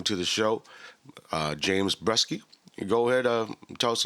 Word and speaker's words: Breske: yeah no my uh my name is uh james breske um rhymes with jet ski so people remember um